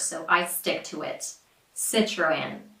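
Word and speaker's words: Citroën: In the US, the majority of people say Citroen, which is very close to the original pronunciation, just with the American short I and R, of course. So I stick to it. Citroen. Citroen.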